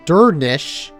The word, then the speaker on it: Durnsik: Durnsik is pronounced Durnish. That's not how I read that at all. Since the final sk cluster sounds like an SH sound, a sh.